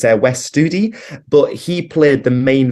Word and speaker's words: Wes Studi: It's a Native American actor called let's see if I can pronounce his name right. It's Wes Studi, but he played the main villain in Last of the Mohicans.